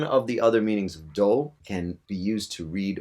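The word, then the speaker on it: 銅: Copper in Japanese is pronounced do.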